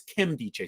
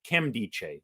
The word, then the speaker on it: Nkemdiche: I'm going to be talking about actually, it's Kimdiche, so you don't say the N. It's Robert Kimdiche. The N is silent.